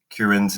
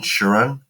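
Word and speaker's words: Chiron: I know I've been pronouncing Kieran's name wrong. I've been saying Shuran, so my apologies, but we'll be making that adjustment here forward.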